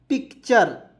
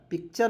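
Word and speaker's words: picture: क्या पेंगे दोस्तों देखिए टी यू आरई अंतिम में आ रहा है इसका उच्चारण चर के रूप में करेंगे और पी आई सी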